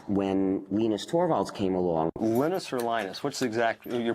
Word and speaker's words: Linus: i speak swedish it's venus when i speak finnish it's linos when i speak english it's linus and i really don't care how people pronounce my name but linux is